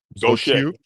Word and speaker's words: Gautier: Go shake. Go shake. Come on now, dog. We're just gonna spell it like this and say it the way we want to say it down here in Mississippi.